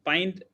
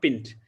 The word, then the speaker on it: pint: not coronal it's kernel pint it is not pinned so usually that this